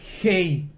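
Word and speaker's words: ה: Se pronuncia Hei.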